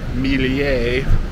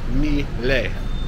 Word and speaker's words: Milei: I've been saying Milei, like adding an extra I in there. But it's not. It's Milei.